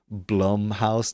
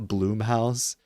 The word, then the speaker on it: Blumhouse: Um It's pronounced Blumhouse, not Bloomhouse. Didn't I say Blumhouse?